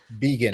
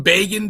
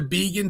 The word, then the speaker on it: Begin: How is it his last name pronounced? Began.